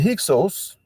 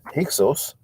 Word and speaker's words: Hyksos: Regarding the Hyksos or Hekachasut or Hekakasut, you don't want to pronounce that H, which is like the Spanish Jota. It's a sound that we don't have in English.